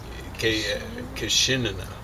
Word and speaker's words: Kishinena: It's actually Kishinena. I got it wrong. Okay. So it's two I's, the first two syllables.